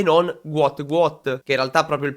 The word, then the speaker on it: Gout Gout: protagonista, che in realtà doveva chiamarsi Gwot Gwot, poiché questa è la pronuncia corretta che arriva dalle sue origini del Sud Sudan, ma il tizio all'anagrafe ha sbagliato, ha scritto Gut Gut e poi successivamente anche